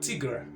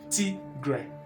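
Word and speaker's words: tigre: sounds like tea and it sounds like gray do you see that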